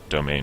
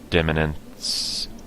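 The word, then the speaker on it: demesne: total domain size and yes that is pronounced domain or something close to it not demons or something but no it's pronounced pretty much like domain uh limited crown authority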